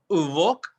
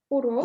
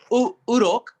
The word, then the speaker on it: урок: Uvok. Урок. Uvoki. Uvok. Uvok. Why you? Урок. Urok.